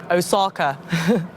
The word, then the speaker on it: Osaka: osaka with my mum my friends pronounce it osaka has anyone here actually